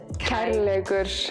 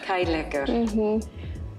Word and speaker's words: Kærleikur: Kærleikur. Kærleikur.